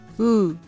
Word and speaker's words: 우: 発音は唇を最大限に前に突き出し、発音するとき、唇に力が加わっています。